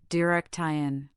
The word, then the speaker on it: direction: The word direction has stress on the second syllable, direktion.